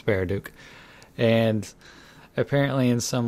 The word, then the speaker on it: Baraduke: I mispronounce it as Baraduke, but it's Baraduke.